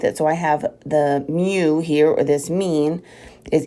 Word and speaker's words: mu: is a Greek letter it looks like a u but it is pronounced m-e-w it's mu all right that's what